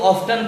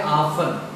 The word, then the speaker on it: often: में आपने जैसे OFTEN, आपने कभी इसको ऑफ्टन पढ़ा, लेकिन आज के बाद आप नहीं करेंगे कुछ, क्योंकि देखिए TEN लास्ट में आ रहा है, T साइलेंट हो गया, इसलिए इसको पढ़ेंगे ऑफन, ऑफ्टन या ऑफन।